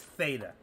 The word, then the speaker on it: theta: It's theta, okay? T-E-T-A, pronounced theta.